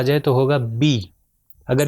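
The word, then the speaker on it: بِ: آ جائے تو ہوگا بی. اگر اس کو میں کہوں بے تو یہ غلط ہے. مثال کے طور پر اردو میں ہم کہتے ہیں بیغم، تو یہ بے نہیں ہوگا بلکہ بی ہوگا.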